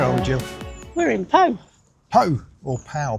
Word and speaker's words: Pau: We're in Pau. Pau or Pal, P A U, but it's pronounced Pau.